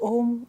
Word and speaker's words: Om: Just Om. Om is such a simple word. It's made up of 3 sounds, A, U and Ma. A and U together make O.